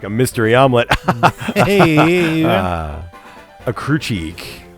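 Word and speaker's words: Ecruteak: A Crucheek. I, for the longest time, had no idea how the fuck to pronounce that. Was that right? I believe it is Ekruteak. Ekruteak?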